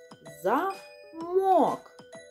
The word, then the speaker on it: замок: Давайте вияснимо, а де ж наголос у цьому слові? Який склад промовляється з підвищеною інтонацією? Замок. О промовляється з підвищеною інтонацією. Другий склад. Замок.